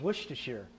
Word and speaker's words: Worcestershire: It's Worcestershire. Worcestershire. Worcestershire. I Oh. looked it up online. Did you? How to pronounce it.